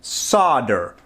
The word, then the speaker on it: solder: Here in America, we pronounce it solder, okay? One of the many differences between people who live in different parts of the world.